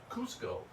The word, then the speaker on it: Cusco: the mayor of Cusco he actually changed the spelling from c z to C and the reason is is they want it to be pronounced Cusco and here's why if